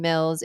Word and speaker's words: Mills: guys my name is Mills it rhymes with bills you know the one the dollar dollar bills I'm a financial educator